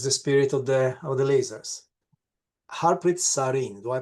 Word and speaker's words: Harpreet Sareen: Harpreet Sareen, do I pronounce correctly?